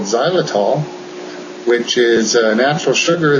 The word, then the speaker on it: Xylitol: Xylitol. It's spelled with an X.